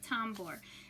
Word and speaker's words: tambor: tambor t a m b o r l tombor and that means the drum in spanish so we're gonna go over the pronunciation i need you to listen carefully before